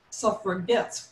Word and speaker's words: suffragettes: this intended insult and called themselves suffragettes with a hard g to signify that they were going to get the right to vote virginia women were very